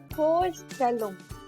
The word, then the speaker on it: Vorstellung: So when it comes in a word, the pronunciation is F. So this word will be pronounced as Vorstellung.